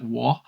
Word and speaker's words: Wa: lands of Wo, or spelt WA but pronounced, I think, more like Wo.